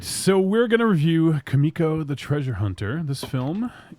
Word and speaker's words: Kumiko: It's Kumiko. It's not Kumiko. It's Kumiko. They say it like 22 times.